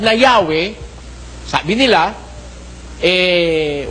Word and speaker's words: Yahweh: Diyos eh pino-pronounce na Yahwe. Sabi nila eh while it is almost if not quite certain that the name was originally pronounced Yahwe this sabi nitong mga